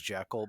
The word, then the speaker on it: Jekyll: more commonly known as Jekyll, by the You, way. even though as I was watching this movie, I looked it up, and apparently that is the way you really do pronounce it.